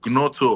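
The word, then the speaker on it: Gnonto: Um, is it Gonoto or how do they pronounce his his name? Bro, that guy I think the G is silent.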